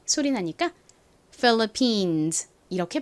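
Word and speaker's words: Philippines: 아니라 미국식 발음으로는 PH 세게 쓰 소리 나니까 phillippines 이렇게 발음합니다 phillippines 이제 다섯 번째 단어 코끼리 써 보겠습니다 코끼리는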